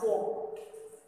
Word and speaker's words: folk: So this word is pronounced as folk. L sound doesn't come in between because between those two letters there is no sound. So that's why it is called as, the one letter remains silent in this finger.